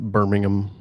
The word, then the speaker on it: Birmingham: as a side note it's pronounced birmingham birmingham okay there's no pork there birmingham okay i'll just